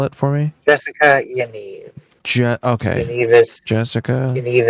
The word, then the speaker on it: Yaniv: Spell it for me. Jessica Yaniv.